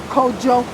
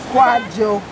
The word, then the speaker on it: Kojo: He was given the Akan Kraden soul name of Kojo, Kwajo, or Kojo. Either pronunciation.